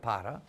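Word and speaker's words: Pará: Maraba is from Paris State, which of course is in Brazil, or the state of Para, actually, how they say it there, north of Minas Gerais.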